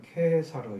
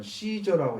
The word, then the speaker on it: 케사르: 그래서 아우구스투스는 카이사르, 이제 뭐 이게 영어 발음식은 케사르 이렇게 있고, 또 어디서는 시저라고 읽잖아요. 근데 여기는 케사르로 읽습니다. 왜냐하면 이게 발음을 라틴어로 하기 때문에 그렇게 되죠.